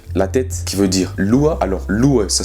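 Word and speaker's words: loha: Voilà, en gros tu dis loa, loa, L-O-A, mais ça s'écrit L-O-H-A, mais on prononce pas le H.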